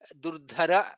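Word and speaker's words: दुर्धरः: Durdhara, dha is Mahaprana, atha parajitah, tha is Mahaprana.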